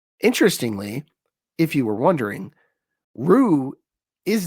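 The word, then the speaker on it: روح: The Arabic word here is ru or lru in this case. That's ru with an h sound at the end, which probably didn't come across.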